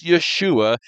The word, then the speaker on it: Yeshua: Jesus is the transliteration, a word that sounds like his name, but his name is Yeshua, and the translation is salvation.